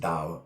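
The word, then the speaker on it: Tao: a of piglet and those are actually supposed to be pronounced and down of poo and day of piglet and the reason they've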